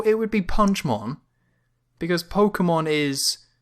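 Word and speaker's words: Pokémon: Because Pokemon it's Pokemon, there's just a dash above the K, which creates that extra syllable, Pokemon.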